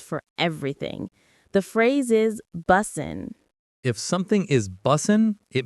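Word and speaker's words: bussin: For now, just know that it's pronounced busen. B U S I N. The stress is on the first syllable. Busen.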